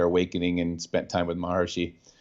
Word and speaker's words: Maharishi: Not early, but mid-early after they went to Rishikesh and had their awakening and spent time with Maharshi yeah, or Maharishi, as some people pronounce it.